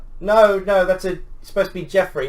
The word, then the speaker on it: Geoffrey: No, that's supposed to be Jeffrey."